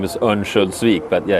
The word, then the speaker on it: Örnsköldsvik: So let's talk a bit about your hometown, Övik, or how do you pronounce it? Yeah, or the full name is Örnsköldsvik, but yeah, its shorter version is Övik, yeah.